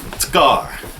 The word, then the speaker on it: Skaar: __ ] up real quick how do you pronounce a car God Skaar it's a car Skaar god damn it's hot in here so there's